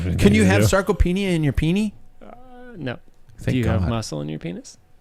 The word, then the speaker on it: sarcopenia: Sarcopenia. Did I Nailed it.